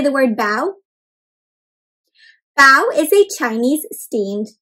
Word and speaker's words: bao: a big bow can you say the word bao bao is a chinese steamed vine so it's